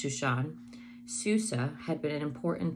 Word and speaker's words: Shushan: Esther and Mordecai were living in the royal city of Susa, Hebrew pronounced Shushan.